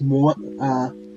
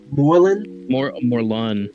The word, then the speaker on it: Morlun: I think his name is pronounced Morlan. Morlun.